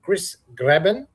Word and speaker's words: Cris Graebin: And you're watching the Get Busy Living podcast with the wonderful Chris Grabbin. Is that how you pronounce it?